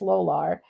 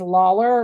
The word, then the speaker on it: Lolar: um you know pronounce my maiden name was lolar so and it's LOL a r and so everybody was Lawler ler and then I